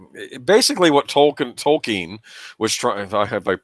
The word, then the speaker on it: Tolkien: Tolkien." Actually, it's Tolkien, and I'm like, oh, Yeah.